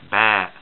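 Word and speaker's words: ب: this there and that it makes the sound like the english or latin letter b it goes and we call it ba ba okay long a uh bad just like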